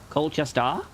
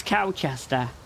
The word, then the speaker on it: Colchester: Coldchester. Colchester. Wait, am I saying it wrong? The way that she pronounced it, it's like cowchester. It's cowchester.